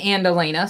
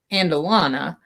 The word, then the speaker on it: Andalena: The story of the Andalena, sometimes pronounced Andalana, is a heavy feature